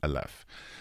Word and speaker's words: Aleph: So how do you pronounce the name of the gallery, just so I don't mispronounce it? Because Aleph. Aleph.